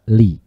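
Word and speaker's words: لِ: Lam amr dengan lam ta'lil ini bacanya sama, yaitu di kasroh. Sama-sama dibaca li.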